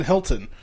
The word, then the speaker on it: Hilton: But we do live in Hilton, where I'm the rare case where I do pronounce the T. Most of us here go Hilton. Hilton, Hilton, Hilton. Hilton, H-I-L-T-O-N, that's pronounced H-I-L_N, Hilton.